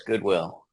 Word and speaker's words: Gudewill: Is that Goodwill or Goodwill? How do you say it? Pretend it's spelled with two O's. Goodwill.